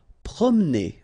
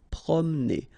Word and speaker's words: promener: Promener, okay, don't insist on this E here, okay, so it will go like prom, promener, promener. Forcer.